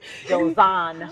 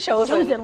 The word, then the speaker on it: Josan: Josan. Chosen, like Chosen. chosen.